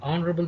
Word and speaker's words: honorable: See, H is silent, H is being not voiced here.